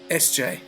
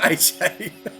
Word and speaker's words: SJ: SJ, not AJ, you've been saying my name wrong all night.